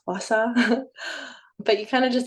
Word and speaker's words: gua sha: And really, they pronounce it here, we pronounce it Gua Sha, but in Chinese medicine, it's Gua Sha.